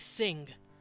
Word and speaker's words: sing: it's that n noise if you don't pronounce the g at the end like sing because we don't it's just sing it's a really weird